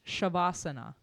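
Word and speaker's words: Shavasana: So, it's actually pronounced shabasana and it's corpse pose.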